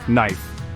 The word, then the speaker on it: knife: Knight KNE and no even though the K is there we don't pronounce it instead we start with the n Sound for example knife is pronounced knife next let's explore the